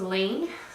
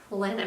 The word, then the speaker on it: Laine: I guess there's a debate on how to pronounce that magazine. At first I was stuck with Laine magazine, but after watching Kristen on Yarngasm actually give the correct pronunciation, I think I'll go ahead with Laine magazine.